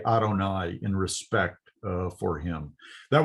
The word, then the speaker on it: Adonai: yave but the vowels for adonai it's usually pronounced as adonai which is a substitute instead of saying the sacred name of god we say adonai in respect for him that was certainly an